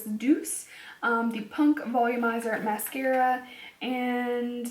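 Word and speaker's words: Doucce: Next, I have something from, I believe someone told me to pronounce this Deuce, the Punk Volumizer Mascara, and let's see, $24.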